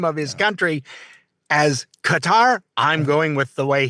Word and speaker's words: Qatar: I've always thought it was correct by cutter, but it because the smart people have said that, so I'm like going, "Okay, yeah, I I'm with you."